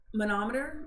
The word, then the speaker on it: manometer: So water is the manometer, is how you say that word, and we'll get into that too.